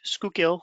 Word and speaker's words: Schuylkill: It is pronounced Schuylkill, and it actually stands for hidden river.